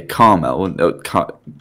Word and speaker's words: caramel: means oh hang on British to American pronunciation you'd say Carmel how would you caramel yeah that's such a weird word it's caramel big red thing around my